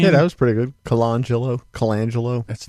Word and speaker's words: Colangelo: Colangelo. That's not how you say it. Colangelo.